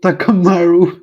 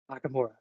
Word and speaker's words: Takamura: and takamura takamura um and I said it right the first um no you said takamaru it's okay you told me that you